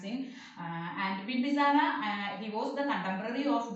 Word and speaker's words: Bimbisara: Remember how to pronounce him. And Bimbisara, he was the contemporary of Gautam Buddha.